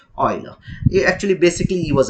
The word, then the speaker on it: Euler: euler it does oil most of them pronounce it as oiler he actually basically he